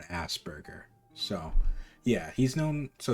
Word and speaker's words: Asperger's: on it's called i i always prin i pronounced it wrong for the longest time it's aspur it's a spurgeous asperger's syndrome right but i've always called it a spurger not an asperger asperger's syndrome but uh you